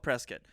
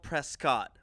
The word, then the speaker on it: Prescott: It's a town called Prescott, which is like it's already like country bumpkin type because it's spelled Prescott, but everyone says Prescott.